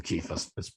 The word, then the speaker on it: Cephas: It's a similar argument to the one Paul had with Cephas and James in Galatians. Some pronounce him Kephas.